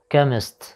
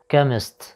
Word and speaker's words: chemist: نلاحظ حرف ال H لا يلفظ في هذه الكلمة chemist، أو نستطيع القول أن CH في هذه الكلمة تلفظ ك chemist chemist.